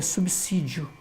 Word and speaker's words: subsídio: anos 50 anos mas a pronúncia correta é subsídio mesmo né é o som de dois ex nem vamos dizer assim